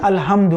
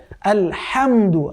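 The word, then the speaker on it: الحمد: তো আমরা অনেকেই বলি আলহামদু, আলহামদু বলা যাবে না, কেমন? বলতে হবে আলহামদু। হ্যাঁ, ওই যে সফট হা পড়েছিলাম কিছুক্ষণ আগে আমরা, ওই হা উচ্চারণ হবে।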